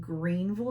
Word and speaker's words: Greenville: I live in Greenville, North Carolina. Some people would pronounce it Greenville.